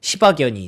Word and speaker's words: 시바견: 숲에다가 뭐 시바이노 그러니까 시바견이 뛰어다니는 모습을 발음 잘해 시바견입니다. 욕한 거 아니고요.이 시바견 그랬더니 요렇게 요런 영상을 만들어 줘요.